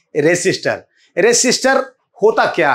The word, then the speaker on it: resistor: Actually में रजिस्टर होता नहीं है, रेसिस्टर कहा जाता है। ठीक है, सही उच्चारण होता है रेसिस्टर।